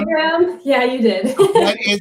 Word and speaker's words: Enneagram: Did I pronounce that right this time? Enneagram? Enneagram?